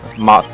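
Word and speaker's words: mog'll: oh you didn't know MOG will mock mo g apostrophe ll that's what you were saying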